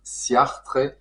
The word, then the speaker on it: Ciartres: un certain François Langlois surnommé chartre puis siartre prononcé à l'italienne après son grand tour